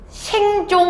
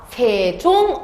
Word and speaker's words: 세종: 자, 첫 번째, 생종, 엉쟁, 훈민, 정흠 이렇게 읽으면 안 됩니다. 왜냐? 세종, 어제, 훈민, 정음이라고 읽어야 되고, 그러면은 너네들의 막 머리를 아프게 하는 게 세와 어와 제입니다.